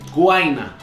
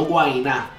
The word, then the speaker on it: Guaynaa: ¿Cómo se pronuncia su nombre? Guayna, no Guayna.